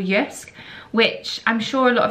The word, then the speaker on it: JYSK: thought I would go to a shop called yusk which I'm sure a lot of you will